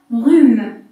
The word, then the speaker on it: rhume: Donc je lis R-U, rue. On met H, mais on ne lit pas. Un rhume.